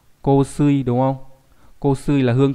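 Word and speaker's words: 香水: Hay đọc là ko ở trong từ gì nhỉ? Trong từ kosui, đúng không?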